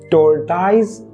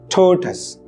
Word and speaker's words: tortoise: it is about the story of hair and T ties how do you say this word t ties it's totally wrong you should pronounce it like turus ttis now it might seem weird to you